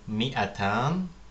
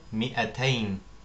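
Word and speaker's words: مائتان: Die Zahl 200, man sagt Ar-Raqamu Mi'atan, Ar-Raqamu Mi'atan oder Ar-Raqamu Mi'atain, Ar-Raqamu Mi'atain. Wie wir sehen, beinhaltet das Wort Mi'atan nach dem Mim einen Elif, aber es wird nicht ausgesprochen.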